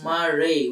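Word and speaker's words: maria: dark areas are known as maray Mar maray pronounced as maray which is the Latin word for Seas the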